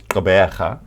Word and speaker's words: Gqeberha: are complaining that they can't pronounce goberja because it requires a click but it's almost karmic